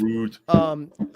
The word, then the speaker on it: Rode: pronounced Rode, Rude.